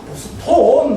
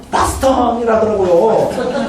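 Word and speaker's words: Boston: 보스턴. 막 이랬는데 자기 못 알아듣고 막. 그러면서 좀 한 1, 2분 지나, 바스턴이라더라고요. 그래서, 바스턴. 맞다. 그래가지고 싹 풀렸어요.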